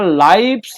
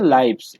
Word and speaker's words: lives: এইটা কিন্তু লাইফস, হ্যাঁ, লিভ নয় কিন্তু। লাইফ মানে হচ্ছে লাইফ থেকে হচ্ছে লাইফ। তাহলে দুজনের জীবন, লাইফ মানে জীবন, LIFE, লাইফ মানে হচ্ছে জীবন। এই সেইখান থেকে প্লুরাল হচ্ছে লাইভস, LIVES।